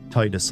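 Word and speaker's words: Tidus: Titus, like the tide.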